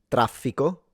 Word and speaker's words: traffico: So to give you an example, traffico, which is like traffic, like in Italian would be traffico. In Sicilian, it's traffico, o traffico, traffico, ch.